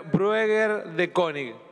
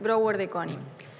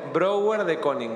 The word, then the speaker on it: Brouwer de Koning: la diputada gabriela bruna brueghel de koning muchas gracias señor presidente con todo respeto simplemente para aclarar la pronunciación de mi apellido es brouwer de koning gracias le agradezco brower de koning broward y con exactamente